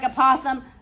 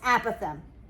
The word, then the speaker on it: apothem: apem most people call it it looks like apoem but it's pronounced apem and we can use trig to solve for